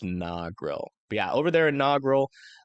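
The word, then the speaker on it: Negril: EF5 tornado nogil okay so this is pronounced nogil yeah over there in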